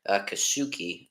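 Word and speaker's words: Kikuchi: Oh boy, Kasuki. That's how you pronounce his name for the Astros.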